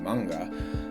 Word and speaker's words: manga: And I think to myself, when I say the word manga, is that not kind of like a similar, something that happens in the other direction, where the proper pronunciation would be manga, and if it's spelled